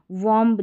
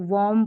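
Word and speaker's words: womb: इसका उच्चारण देख ले, इसको वॉम्ब, जैसे ये टॉम टॉम पढ़ा तो इसको वॉर्म पढ़ दिया, ऐसा गलत हो जाएगा, यहाँ पर उच्चारण दिया गया है वूम। इस तरीके से आपको प्रोनाउंस करना है।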